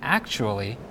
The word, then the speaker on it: actually: pronounced like - however the TU sound in the word actually is pronounced like Chu in general words that begin